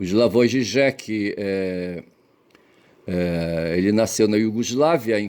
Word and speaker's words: Žižek: Slavoj Žižek, pronunciado Slavoj Žižek, ouça.